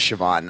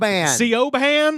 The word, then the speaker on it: Siobhan: my favorite name is Siobhan I think that's like one of my favorite names my favorite is just Americans uh trying to pronounce it CEO ban are you CEO baham